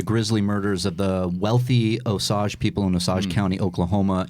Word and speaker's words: Osage: That might be, yeah, Osage County. There you go. The film was Is that how you pronounce That's it, yeah.